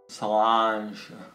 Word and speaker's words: Sláinte: Sláinte.